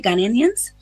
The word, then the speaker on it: Ghanaians: Well, honestly, I would like to say Ghanaians. Did I say it right? Ghanaians?